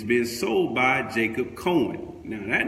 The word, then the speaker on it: Jacob: coming from Jacob : Jacob which can also be pronounced as Jakub right so you know